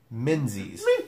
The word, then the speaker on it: Menzies: And, yes, I said Luke Menzies. Spelled with a Z.